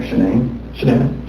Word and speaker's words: Shanann: And I don't want to pronounce her name wrong. Shanann.